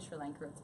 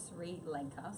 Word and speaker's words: Sri Lanka: makeup yeah so well I actually got correct with the other day by somebody when I said Sri Lanka pronounce three later so some reason everybody calls it Sri Lanka but so sorry